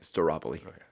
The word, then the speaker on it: Staropoli: I say Staropoly, but if you look at it phonetically, it's star o poly and I'm okay with that, too.